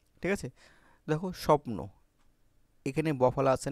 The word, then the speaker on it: স্বপ্ন: দেখো স্বপ্ন এখানে বফলা আছে না?